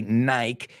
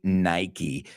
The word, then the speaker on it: Nike: it's Nike that's right well in Spain you say Nike you know we say Nike folks we've got to